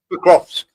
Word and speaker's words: Pokrovsk: Pokrovsk.